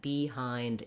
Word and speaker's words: behind: So I definitely don't want any stress and I don't want a clear vowel on that first syllable. Then for the second syllable, we just have that tense, that diphthong I, just like in the word I, in I like this I, or you can also